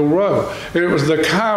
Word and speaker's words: Rho: It's not really a P, it's pronounced R in Greek, is the Rho.